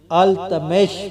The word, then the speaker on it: التمش: کی خدمت کرتے رہے۔ لفظ التتمش کا تلفظ کئی طرح سے کیا جاتا رہا ہے، مثلا التمش، التمش وغیرہ، لیکن جدید تحقیق کے نتیجے میں التمش پر بیشتر محققین کا اتفاق ہو گیا ہے۔ التمش بر صغیر